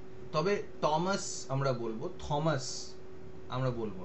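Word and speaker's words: Thomas: ব্যক্তির নাম হচ্ছে কি টমাস উইলসন তোমাদের একটা জিনিস বলে দিই যেটা হচ্ছে যে ইংরেজিতে টি এইচ এর উচ্চারণ কোন সময় থ বা দ এরকম হবে না ওটা ট হবে টমাস উইলসন ঠিক আছে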